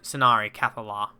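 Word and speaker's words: Scinari Cathallar: the venari build the skinari cathola or scenari cathola i think it's pronounced this is the lady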